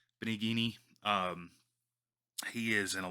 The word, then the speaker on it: Benigni: name and Anthony bergnoli Roberto it's Italian I'm not I don't know why I said uh Antonio it's Roberto benigni um he is in